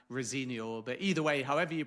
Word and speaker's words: Rosenior: And just one small thing as well because people may be listening and hearing me speak his surname Rosenior whereas perhaps the most commonly pronounced version of it is Rosenor. And I am told by sources close to the new Chelsea boss that that is in fact his preferred pronunciation. So, Rosenior rather than Rosinior.